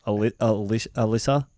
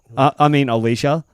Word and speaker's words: Alycia: then there was one, and it's spelled AlYcia, right? And I go, so Alicia, and she goes, Alicia. Alicia. And I was like, oh yeah, Alicia.